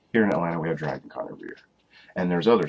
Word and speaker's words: Dragon Con: But like say, if you walk into, say, Sci-Fi Summer and you're expecting DragCon. I said DragCon. Dragon Con. Here I go. I got it out finally. Not everything's 2 syllables.